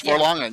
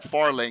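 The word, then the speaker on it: Fharlanghn: Yes, Farlangen. Yes, yep, Farlangen. Yep, Farlangen. I always pronounce it Farling because I'm from South Jersey and I get everything wrong.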